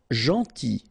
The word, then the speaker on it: gentil: Gentil. So it's a strange one because here this final L is not pronounced.